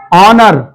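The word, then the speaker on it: honour: में जा रहा है एच को मैंने कहा इग्नोर करना पड़ेगा क्योंकि एच की आवाज यहां पर साइलेंट रहेगी क्यों रहेगी जहां पर भी एच ओ एन आपको नजर आ जाए तीनों साथ में आए तो एच की आवाज साइलेंट रहेगी ओ की आवाज से शुरू होगा ओ एन ओ यू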